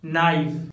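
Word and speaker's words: knife: Friends, जब letter के बाद एन आता है तो के साइलेंट होता है, जैसे knowledge night नाइफ नॉट NAB nail knob. इन सभी वर्ड्स में लेटर एन के पहले के आया हुआ है, इसलिए लेटर के साइलेंट है।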